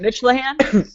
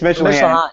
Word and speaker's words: Mitchlehan: of people don't know how to pronounce it. Yeah. And uh is it Mitchahan? It's Mitchan. It's my last name is Mitchell. Co-founder's last name is Callahan. So, we put it together and we're not very creative obviously.